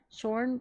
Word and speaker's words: schön: The Shorn pronunciation is probably as close as you can get with English pronunciation.